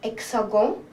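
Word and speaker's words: hexagone: In French it's hexagon. We just add an E in the spelling, it's hexagon.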